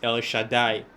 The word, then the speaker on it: El Shaddai: Al Shaddai, of course, the letter will pronounce it El Shaddai, right?